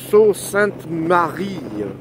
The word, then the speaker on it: Sault Ste. Marie: I am on my way to Sault Ste. Marie. Or as the French would pronounce it, Sault Ste. Marie.